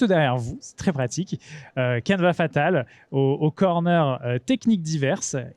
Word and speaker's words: Canevas: Et donc, si vous avez Instagram, Canva Fatal sur Instagram, tout attaché, CANEVAS FATAL, tout simplement. N'oubliez pas le S, très important, même si on ne le prononce pas, il est là.